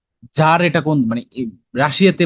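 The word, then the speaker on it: tsar: কি বলতে পারো তার মানে হচ্ছে যার মানে উচ্চারণটা হচ্ছে যার মানে প্রধান ঠিক আছে যেমন এই যে দেশের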